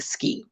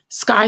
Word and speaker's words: Sky: Don't make the mistake of me saying ski. I know it looks like ski. Phonetically, it is ski, but she told me it's Sky and her mama spelled her name like that.